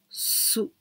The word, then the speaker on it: 吸: The second kanji, we can pronounce su. That comes from suimasu.